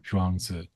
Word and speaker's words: Zhuangzi: So that's spelled, I hope I get this right. So it's like Zhuangzi, Mm. Zhuangzi.